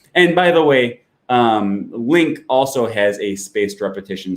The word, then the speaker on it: LingQ: if you already use link by the way i always have to say this link is spelt l-i-n-g-q it's not lingq it's just pronounced link okay that's just a